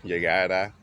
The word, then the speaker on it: llegara: Now you gotta be careful with the pronunciation because they got the future form, which is llegará. That's he, she, it will go.